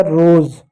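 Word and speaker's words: rose: तो वहां पर एस को हम ज पढ़ते हैं। हो गया रोज। रोज नहीं रोज। रोज मी्स होता है गुलाब। ई साइलेंट हो गया।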